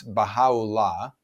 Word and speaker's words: Baha'u'llah: And one of his most well-known followers is someone whose name is a little hard to pronounce, but in English it's Baha'u'llah.